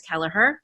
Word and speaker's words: Kelleher: another very very very special guest um kelleher did i pronounce that right keller heard yes yes okay um and i am super